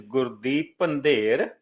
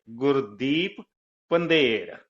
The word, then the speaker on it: Gurdeep Pandher: Correct pronunciation of my name is Gurdeep Pandher. Yes, of course, of the Yukon too, but you are very close. And there are so many different pronunciations of my name too. But if you want to hear in a very, very pure way, it's Gurdeep Pandher.